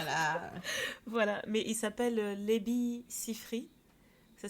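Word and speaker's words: Labi Siffre: à en sortir voilà voilà mais il s'appelle lebi sifri ça s'écrit l A B I et son nom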